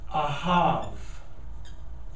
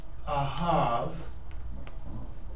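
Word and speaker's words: אהב: this word it is aav a hav it's written with a B but it's pronounced with like a v aav it is a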